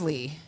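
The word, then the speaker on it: Leigh: he listens either Zach my middle name's Lee and you know that you said H yeah l e i g h is how you spell it ew you've known this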